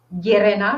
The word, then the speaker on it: Llerena: Y Antonio el Barco es extremeño, es de Llerena, ¿lo pronuncio bien?